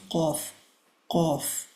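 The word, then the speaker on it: قاف: then where the tongue ends that's where we pronounce cough cough.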